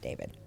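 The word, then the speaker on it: d4vd: You pronounce it David.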